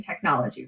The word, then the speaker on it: technology: word so for example let's use the word technology there are four syllables in technology right technology for syllables now only one of those syllables has a stress listen see if you can figure it out technology do you hear it tech nology it's the second syllable in that word that gets the stress now according to the